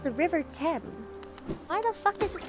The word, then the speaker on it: Thames: And he was like, that's not how you pronounce the river's name. Oh no, I said the river Thames. And he was like, it's pronounced the river Thames.